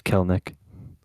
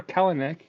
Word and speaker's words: Kelenic: It's Kelnick. It's Kelnick. We said the name wrong the whole time. Baseball reference says Kelnick. Yeah, I knew that it was never Kalanick.